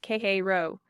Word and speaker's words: Cairo: Cairo, Illinois, pronounced Khei Row.